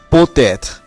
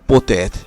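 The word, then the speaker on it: peut-être: এবং সর্বশেষ পোতেত, পো এর শেষে অনুচ্চারিত তে এত এর শুরুতে যে এ স্বরধ্বনি রয়েছে তার সাথে মিলে উচ্চারিত হয়েছে। তাহলে কি হলো পোতেত।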